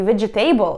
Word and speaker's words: vegetable: Часто люди неправильно произносят слова vegetable и comfortable. Да, не vegetable и comfortable, а vegetable. Comfortable.